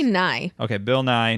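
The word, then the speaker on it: Nighy: I never know how to pronounce I this. say Nye.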